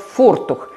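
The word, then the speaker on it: Vortuch: И произносится по-немецки она как фортух.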